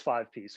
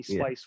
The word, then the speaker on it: 5piece: It is 5 piece. 5 piece is the way. Although I have gotten some interesting twists on that. Somebody called me Spice once.